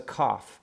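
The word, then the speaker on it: כ: a COFF COFF okay now cough can make two different sounds it's very very minor differences but a cough with a dot in it makes just a straight cup cup like a K or a like a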